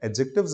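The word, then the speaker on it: adjectives: clarification ये हो की यहां से दी को साइलेंट कर दीजिएगा थॉट्स नोट प्रोनोसेदव्स दी वहां पर साइलेंट है एडजेक्टिव्स इसका साउंड आता है कभी भी मुझे सुनेंगे तो आपको एडजेक्टिव सुने नहीं मिलेगा और मैं कहूं प्रैक्टिकल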